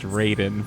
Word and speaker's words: Raiden: works in text because the mortal kombat character is pronounced raiden because of course it